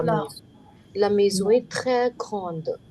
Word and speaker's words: grande: La maison est très grande. How? Et la maison est très, très. The last S is silent. Grande. Last E silent.